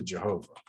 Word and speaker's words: Jehovah: tetragrammaton rendered and that's how we get to jehovah with the v sound and yahweh with the w sound right because this is